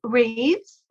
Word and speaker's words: Rieves: Founders Club I am with my friend Reeves that is correct last name pronunciation right that is right yeah because it's